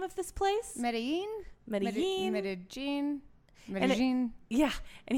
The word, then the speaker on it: Medellín: Medellín. Yeah. And he let us know that it is not Medellín. Because that is how a goddamn Argentinian would pronounce it. Yeah, Medellín.